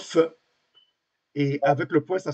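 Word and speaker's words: פ: est la qui que le F comme pharmacie c'est un pH il se prononce feu.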